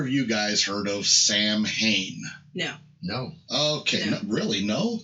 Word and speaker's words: Samhain: Not Sam's Hanes, that would be my wife's underwear, but Samhain, which is how it's spelled. However, it's pronounced in Gaelic as Samhain or Samhain. There's 6 or 8 different ways they say that they can be pronounced this way, this way, this way.